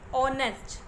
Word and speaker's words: honest: Honest. O, whether it is beginning with the letter H, which is a consonant, but when we pronounce it, the pronunciation has the vowel sound O.